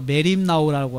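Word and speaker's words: μεριμνάω: 염려하지 말라 염려 문제예요 여기서 염려하다 말은 헬라어로 메림 나오라고 하는 말인데 메림 나오라는 그런 그 발음을 가지는데 괴로워하면서 걱정하는 것이 메림 나오에 그까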